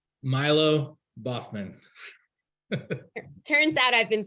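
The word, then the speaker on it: Milo Baughman: How do you pronounce that designer's name? Milo Boffman.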